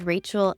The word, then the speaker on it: Rachelle: And yes, so my name is Rachel. My name looks like it's spelled like Relle, but it is Rachel.